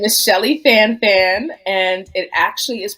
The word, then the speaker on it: Schellie Fanfan: that oh boy uh again my name is Shelly fanfan and it actually is pronounced Shelly F I am a first generation